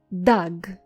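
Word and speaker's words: דג: So once again, how do you say fish in Biblical Hebrew? You say dag. Dag.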